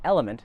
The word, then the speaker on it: LMNT: I've been lucky enough to partner with the fine folk over at Element, that's spelled L-M-N-T, pronounced Element, and they make a really simple electrolyte solution.